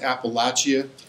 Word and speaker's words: Appalachia: east coast most of these guys are in Appalachia Appalachia by the way it's pronounced Appalachia my relatives my mom's side are from Apple